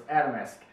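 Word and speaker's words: Atomsk: do it right because I know how to say his name so it's adamis but he's all Adam that's hard to say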